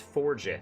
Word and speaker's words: forgeth: It literally is spelled forget with an extra H at the end, but it's forgeth, you know, forging forward.